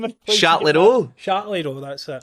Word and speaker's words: Châtellerault: Châtellerault, that's it. How can you not pronounce that?